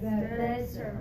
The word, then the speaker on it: desert: in the desert okay desert yeah so we need the strong first syllable when we're talking about the place that you go uh to um let's